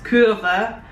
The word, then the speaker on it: kurva: Budos, kurva, oh yeah, kurva, we all know what that means.